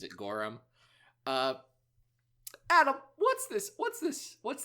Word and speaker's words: Goram: Adam T Goram yes I I believe he pronounces it gorum uh Adam what's this what's this what's this